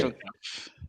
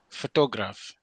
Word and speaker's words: photograph: Your stress is on the first syllable, and that gives you photograph.